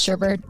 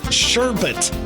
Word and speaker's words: sherbet: it cuz I'm going to call it sherbet stop it's sherbet sherbet how okay yeah I'm never going to remember that I'll keep messing you up sure but it's just look at the way it's spelled and say the words that are oh my gosh my